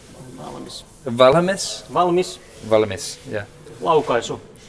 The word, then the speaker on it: valmis: Valmis. Valmis.